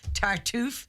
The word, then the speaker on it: Tartuffe: This Wednesday we're going to see, and I've written it down this time to make sure I say it right, Tartuffe.